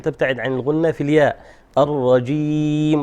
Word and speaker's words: الرجيم: الرجيم وليس الرجيم. الرجيم.